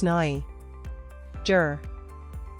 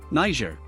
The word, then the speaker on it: Niger: Pronounced as Niger. Niger. The first syllable is pronounced as Ni, rhyming with my. And the second syllable is pronounced as Jur, rhyming with her. Niger.